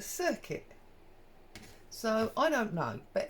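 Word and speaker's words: Cricut: here tomato tomato um I've always referred to it as a cry cut because that's how it's spelled c-r-i c u t cry cut and yet most of the time when you hear people talk about it on YouTube they refer to it as a circuit so I don't know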